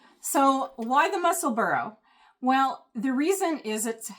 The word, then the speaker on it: Musselburgh: A lot of viewers have helped me with that because originally I was following a few people who said Musselburgh, but it's the Musselburgh, like Edinburgh. So why the Musselburgh?